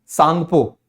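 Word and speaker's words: Tsangpo: को कहा जाता है सांगपो यहां पर टीम साइलेंट है तो ब्रम्हपुत्र को तिब्बत के अंदर क्या कहते हैं सांगपो जिसका मतलब होता है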